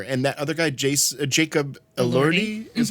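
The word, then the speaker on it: Jacob Elordi: And that other guy, Jason, Jacob Allerti is how you say his name.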